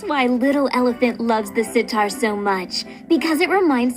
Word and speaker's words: sitar: looks like a guitar it sure rhymes with guitar doesn't it but it's most similar